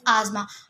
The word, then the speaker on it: asthma: Some people pronounce it एज़ अस्थमा बट इट इज़ नॉट अस्थमा। इट इज़ अस्थमा।